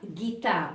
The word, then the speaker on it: guitare: vous ai écrit ici normalement je vais écrire jtard mais non il n'y a pas de Gitane il y a guitare à ce moment-là je dois ajouter un U avant donc la lettre G et je vais louer à ajouter le U pour éviter le son le son J ou bien à notre